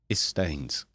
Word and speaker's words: Yistains: You see, because in Welsh, that Y is pronounced as an I. So, yeah, Yistains.